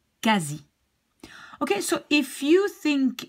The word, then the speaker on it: quasi: QU, together, you pronounce like a K. And don't say the U, because I hear people trying to pronounce something like qu, but it's not. Like if I have this word, you will pronounce it like quasi and not quasi or something like that.